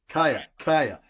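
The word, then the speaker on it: Kaia: Is it how do you pronounce Kaya, it? K-A-I? Kaya.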